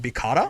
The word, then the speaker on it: Vikala: And also said it correctly in Japanese, it would sound like Bikara. Here begins Excuse me? episode. Oh, you're talking about Vikala, yeah.